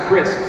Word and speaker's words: Crist: And my last name's pronounced Crist. Sometimes telemarketers will call the house and be like, "Is Mr. Christ there?"